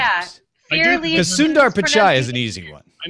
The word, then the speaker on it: Sundar Pichai: That one you can just pronounce it the way it looks. Sundar Pichai.